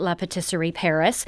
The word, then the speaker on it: La Patisserie Paris: And for you French purists, that is how they're pronouncing it, La Patisserie Paris.